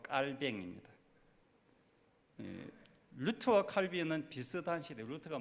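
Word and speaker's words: Calvin: 그래서 칼빈은 영어식 발음이고 프랑스어로 정확하게 사람 이름은 그 나라 언어로 불러줘야 되니까 칼빈 아니고 깔뱅입니다.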